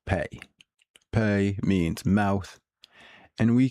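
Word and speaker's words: פ: It's pronounced pay.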